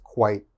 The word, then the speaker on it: quit: The QU makes a qu, like a KW sound. Qu, and of course it, quit, quit.